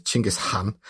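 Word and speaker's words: Genghis Khan: was the absolute classic example of this uh Genghaskhan. The correct way to pronounce it is Chingish Khan.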